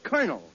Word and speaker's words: colonel: You see that word is pronounced colonel.